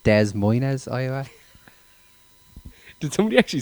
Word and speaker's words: Des Moines: Sorry, I actually think it's pronounced Des Moines, Iowa.